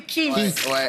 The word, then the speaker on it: Keith: le prononcer Keith.